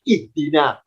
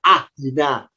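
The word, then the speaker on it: اهدنا: Kenapa kita terbiasa bacanya ihdina? Kok tidak ahdina? Kok tidak uhdina? Ya, karena huruf ketiganya kasrah. Karena dalnya kasrah alifnya ikut kasrah. Maka kalau diharokati alifnya harakatnya kasrah berbunyi ih.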